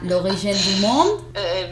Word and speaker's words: L'Origine du Monde: A ver, la pronunciación en francés correctamente sería L'Origine du Monde. Mi francés no es correcto, está muy lejos de hacerlo, pero sí, L'Origine du Monde.